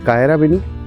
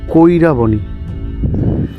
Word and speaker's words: কৈরাবনী: এটা হলো, ইংরেজিতে যদি উচ্চারণ করো তাহলে কায়রাবেনি, আর যদি বাংলায় উচ্চারণ করো তাহলে হচ্ছে কৈরাবনী। কৈরা, হ্যাঁ কৈরাবনী।